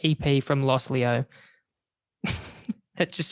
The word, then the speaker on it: Los Leo: I think you pronounce it Los Leo. It's LOS space LEO.